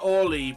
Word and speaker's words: Early: It's pronounced Orly, but I'm pretty sure it's a reference to the O'Reilly.